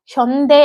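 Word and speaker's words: 현대: ஆக்சுவலா கொரியன்ல ஹ்யோந்தே அப்படின்னு ப்ரொனவுன்ஸ் பண்ணுவாங்க. ஹ்யோந்தே அப்படின்னா வந்து மாடர்ன் அப்படின்னு அர்த்தம். ஆனா வந்து நம்ம இங்கிலீஷ்ல அத ஸ்பெல் பண்ணும்போது வந்து ஹ்யோண்டே அப்படின்னு வந்திருக்கும். ஹூண்டாய் அப்படின்னு வந்துருச்சுன்னு வைங்க.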